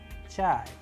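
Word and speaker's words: чай: In with the help of Russian word chai, chai, which means tea.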